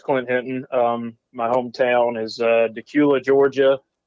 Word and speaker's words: Dacula: My hometown is Decula, Georgia. A lot of people mispronounce the name of my hometown. I have heard Dacula, Decula, Dracula on the news before, local news.